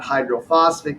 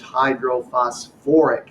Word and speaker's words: hydrophosphoric: acid it's hydrosulfuric acid h3p is not hydrophosphic acid it's hydrophosphoric acid any acid containing phosphorus